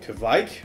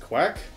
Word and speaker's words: kveik: this case I'm using a type of yeast called to bike or I think it might be pronounced quack depending on who you talk to you there's a lot of different pronunciations to it but it's basically a